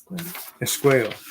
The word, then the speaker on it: Esqueo: How do you say this one again? Esqueo.